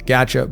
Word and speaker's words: gacha: Yes, I know they're pronounced gacha, but really, they gotcha.